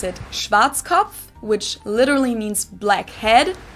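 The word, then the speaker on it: Schwarzkopf: over the world pretty much in German we pronounce it schwat which literally means blackhe head schwat English native speakers usually pronounce it Schwarz cough or Schwarz cough or something along those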